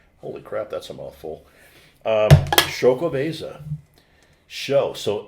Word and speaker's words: Xocoveza: Xocoveza. Sorry to interrupt. Xocoveza. It says it on there, how to pronounce it.